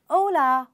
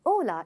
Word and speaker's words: hola: Well, H is silent and hola is basically a Spanish word to say hey or hi.